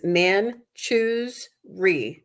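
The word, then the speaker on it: Manjushri: wow so uh it the pronunciation in the book is man choose re manoi it's still not easy to say but that's the pronunciation so manuri is a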